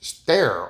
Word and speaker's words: sterre: So I'm turning around and walking away to choose stare or st e r e cuz that's how you pronounce it.